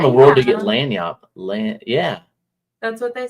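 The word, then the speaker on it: lagniappe: easy to pronounce. The Bayou. Yeah. Lagnapi.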